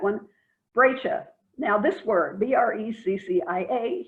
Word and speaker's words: breccia: Now this word, B-R-E-C-C-I-A, here in Israel tends to be pronounced by the archaeologists as brexia. I have no clue where they got the pronunciation. It is an Italian word. Ask an Italian, they'll tell you the word is pronounced breccia.